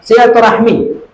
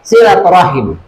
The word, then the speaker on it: silaturahim: Yang kedua, silaturahmi. Jadi yang benar ejaan aslinya kalau menurut ke bahasa Arab adalah silaturahim.